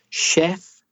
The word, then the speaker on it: chef: for Spanish speakers because that CH is sure it's not the same as cha like chat it's a different sound it's Shh like she or shall chef champagne Chalet numbers are